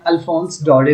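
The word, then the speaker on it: Alphonse Daudet: जो राइटर है alphons.in इसे हम प्रोनाउंस करते हैं अल्फांस दौड़े विक्स फ्रेंच में इसको अल्फांस डॉटेड प्रोनाउंस करते हैं 184897 इसकी डेट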